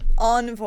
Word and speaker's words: Envoy: It's Envoy. Envoy, yeah. That's. I guess I got it from the French meaning, so I got to go with how they say it in France.